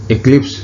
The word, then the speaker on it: eclipse: इसे बेटा इक्लिप्स पढ़ना है, एक्लिप्स प्रोनाउंसिएशन नहीं है। ई जो है वो आई का साउंड देगा, जैसे हमारे जो वर्ड इंग्लिश है उसमें ई लिखा जाता है लेकिन उसका जो साउंड है वो आई होता है। उसी तरह से इसे भी हम इक्लिप्स प्रोनाउंस करेंगे।